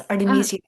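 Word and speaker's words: Artemisia: Yeah, you're saying it correctly. It's Artameeseia.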